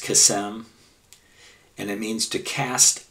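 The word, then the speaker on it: קסם: The word is from the Hebrew word number 7081, which is, the Hebrew is pronounced kesem, and it means to cast a lot.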